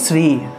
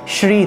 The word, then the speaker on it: শ্রী: হলো শ্রী, এটা হলো শ্রী, ঠিক আছে, শ্রীকৃষ্ণ, আমরা তো এটা উচ্চারণ করি, কিন্তু এটা উচ্চারণ না, প্রকৃত উচ্চারণ হলো শ্রী শ্রী, তালবস্য শ্রী, অর্থাৎ তালব্য বর্ণ তালু থেকে আসবে, ঠিক আছে, জিহ্বাটা আমাদের